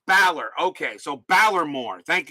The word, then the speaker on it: Balor: valor is in baylor so valor so it's pronounced balor okay so balor more thank you thank you